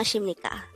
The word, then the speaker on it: 하십니까: And with that, you've just learned Annyeong Hasimnikka. Now let's test your learning by taking the following exercises. Read this. This is pronounced as Annyeong.